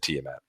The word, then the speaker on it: Tiamat: I hope it's Tiamat. I think we're I, right. Neither one I of us play listened. Dungeons and Dragons. I watched the live stream. He said Tiamat. All right, awesome. That's the way that I would have pronounced it, just like looking at